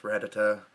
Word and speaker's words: Rattata: it first came out Pokemon was pronounced a lot different than they are now and Rattata and Rattata it was originally pronounced ratata I remember that vividly